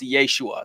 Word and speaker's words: Yeshua: you who don't know Jesus's name in Aramaic would have been pronounced Yeshua that's what his friends